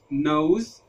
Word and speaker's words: nose: حرف الاو في الحاله دي بيبقى منطوق بشكل واضح جدا، والحرف اللي قبل منه كمان بيتنطق بوضوح جدا، وحرف الاي في اخر الكلمه بيكون سايلنت ما بيتنطقش، زي كلمه نوز نوز نوز، وزي كلمه راب راب راب.